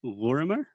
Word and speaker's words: Lorimer: Please tell me I'm not pronouncing this wrong. Lorimer?